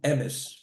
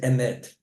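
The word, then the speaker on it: אמת: How do you say truth in Hebrew? Emes. Or as Chaim would say, emet. Right? That's how we say it.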